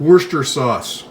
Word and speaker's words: Worcestershire: does this say worcestershire and i've got friends in england and they call it worcester sauce they said that's the right way to say it and being as that's british they call it worcester sauce let's all call it that you're going to need